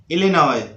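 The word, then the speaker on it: Illinois: Next है इलिनॉय, इलिनॉय, इलिनॉय। तो यहां पर एस साइलेंट है।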